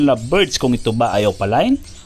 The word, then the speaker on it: opaline: Ang tamang pagbigkas sa salitang opaline ay opaline. Kaya lang dito sa Pilipinas ay mas kilala ito o mas tanyag na sa tawag na opaline.